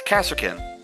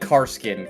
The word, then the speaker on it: Kasrkin: Actually, Ben, Mahia is the actual pronunciation because it's like Mexico, Mahia. Yeah. it's Kasserkin. Yeah, I would read it as Kaserkin. And you said Karskin, Connor.